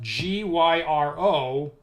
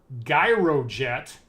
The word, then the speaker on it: gyrojet: So now we get to debate whether that's supposed to be gyrojet or gyrojet. So I guess it's like a gyroscope, if that's the idea, would be gyrojet. I have personally, I guess I've always pronounced it gyrojet because it just sounds better to me. How do you guys pronounce that? Was it with a soft G, gyrojet, or a hard G, gyrojet?